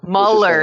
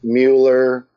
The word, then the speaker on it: Mueller: It is spelled Mueller, but it's pronounced Muller. And everyone always gets my name like that because they think it's Mueller.